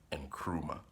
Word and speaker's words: Nkrumah: So my real name is Anne Kruma say with me and Kruma. So it's spelled N, K, R, U, M, a, H, no E at the beginning of my year.